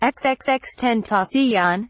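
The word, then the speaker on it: XXXTentacion: Monday afternoon the rapper whose stage name is pronounced xxx 10th asean was chat while in his sports car Williams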